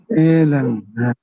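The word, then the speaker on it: Hélène: হলো হেলে, হেলেনে, এটা এ, এটা এইচটা মিউট হয়ে যায় আর কি, এ ল্যান, এলেন, ই হলো পরেরটা হলো এ এ এল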